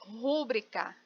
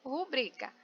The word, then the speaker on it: rubrica: Então, eu tenho aqui rubrica, que é a escrita e a pronúncia correta, mas tem muita gente que fala rúbrica, né? Rúbrica. E o correto é rubrica.